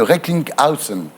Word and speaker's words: Recklinghausen: Votre patient, Jérôme Hamon, donc, que nous recevrons, est atteint de neurofibromatose ou la maladie de Recklinghausen. Alors vous le prononcez bien, c'est bien.